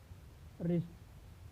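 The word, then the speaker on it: wrist: के बाद आता है, तो डब्ल्यू का उच्चारण नहीं होता है, यानी वह साइलेंट होता है। जैसे राइट, sword, answer, wrong, रिस्ट।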